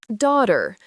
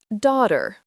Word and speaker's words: daughter: Daughter. The gh is silent. Daughter.